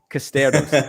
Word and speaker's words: Costerus: Today we're on Bambos with your dear friend, Nicole Nicole Costerus. Costerus. She said Costerus that. and Costerus. Costerus.